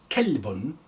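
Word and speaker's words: كلب: This one is ka, cough, qalbun, qalbun mean heart, but kalbun as a dog, ka. So you have to really distinguish in your pronunciation of ka and calf.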